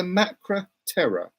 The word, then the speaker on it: Macra Terror: pronounce it that way it's the Macra terror Macra Tara sorry that's how it is it's not tear or it's terror as they spell the